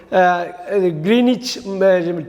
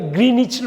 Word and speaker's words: Greenwich: அடுத்து நம்ம பார்க்க போகிற ஒரு மிஸ்ப்ரொனவுன்ஸ்டு வேர்டு, தவறாக உச்சரிக்கப்படுற வார்த்தை. நம்ம அடிக்கடி அந்த டைமில் பற்றி பேசுவோம். கிரீனிச் டைம் அப்படின்னு சொல்லுவாங்க.